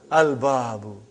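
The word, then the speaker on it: الْبَابُ: What is the first word? Al-babu. Is it moon letter or sun letter? Moon letter. You did pronounce lam.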